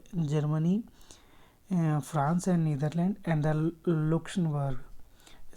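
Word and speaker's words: Luxembourg: France and Netherlands and looks Berg spelling देख लीजिएगा एल यू एक्स ई एम बी ओ आर यूजी ठीक है ग्री Germany France Netherlands ए looks बर्ग बोलते इसे तो यह चार पाच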